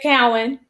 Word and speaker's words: Cowan: Is that how you pronounce it, Cowan or Cowan? It's Cowan. Okay.